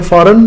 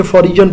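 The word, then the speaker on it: foreign: गैर मुल्की की इंग्लिश होती है फॉरेन। इसको अक्सर बच्चे फॉर रीजन पढ़ते हैं। ये भी मैं आपको बता देता हूं।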